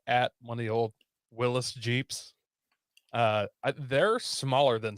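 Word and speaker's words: Willys: it is really pronounced his his name was pronounced willis yeah but it said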